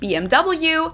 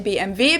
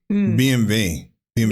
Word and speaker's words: BMW: In English, people say BMW. In German we say BMV because W is pronounced V in German and it stands for which means Bavarian Engine works.